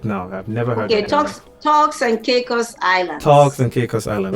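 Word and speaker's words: Turks and Caicos: to which was the cake how do you pronounce that island because i have to go check it now i've never heard yeah talks and caicos island talks and caicos island okay i will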